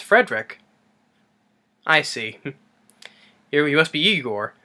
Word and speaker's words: Frederick: Frankenstein and the marty Feldman as I gore frank enstein you putting me on no it's pronounced Frankenstein what does the press protes rhoderick no it's Frederick I see here USP Igor nice pronounced I